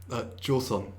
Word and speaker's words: Joseon: So there's scenes where they're in America, in New York, and then you have and I'm going to pronounce this incorrectly, the Husong era? Joseon. Joseon. Joseon.